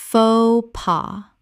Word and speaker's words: faux pas: fo pa faux pas Word 205: cliche Common mispronunciation: clee-chee Correct pronunciation: clee-shay Two syllables with the CH making a SH sound from French.